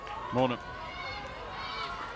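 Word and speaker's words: Maanum: And after discussions, indeed, it is Frida Mornham rather than Frida Marnham. There's a lot of people have a lot of different versions, but having spoken to the right person, we have the conclusive answer.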